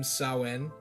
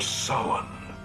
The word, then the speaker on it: Samhain: one i like how dr loomis and halloween 2 invented his own pronunciation of the name sowen samhain but here at halloween 3 cochrane absolutely nails it the festival of summon i can talk about